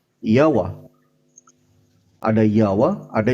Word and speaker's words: Yahweh: Tapi dibacanya Yawa. Ada Yawa, ada Yawi.